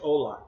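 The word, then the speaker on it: Hola: yeah that would be Spanish Ola is is that how oh it's but it's spelled with an H is that how that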